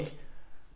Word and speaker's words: holiday: Donc, il y a un accent tonique et vous commencez toujours par votre fameux accent tonique Holiday. sur la première syllabe.